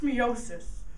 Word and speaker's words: meiosis: a lot to learn first of all it's pronounced meosis meosis is a formation of sex cells a